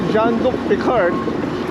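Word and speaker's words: Jean-Luc Picard: Luke rard so Sabi ko Kung sinabi ni John Luke picard na yun ang pronunciation you make it so for crying Out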